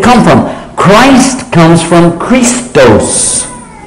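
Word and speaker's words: Χριστός: Christ comes from Christos Christos is not Arabic it's not Hebrew it's not Aramaic it's Greek this is a Greek word Christos and it got shortened to Christ and then it became pronounced Christ so basically what we're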